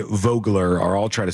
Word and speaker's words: Vogler: It's pronounced Vogler, says Deb.